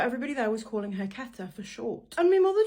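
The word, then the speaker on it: Quetta: My name is pronounced Keta, not Queta.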